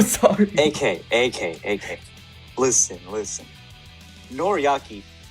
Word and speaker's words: Noriaki: okay aka listen listen noriyaki is not a nori cookie we already established that